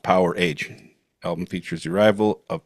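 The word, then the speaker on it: Powerage: album uh from 1978 power rage and just in case you don't know it's pronounced power age album features the arrival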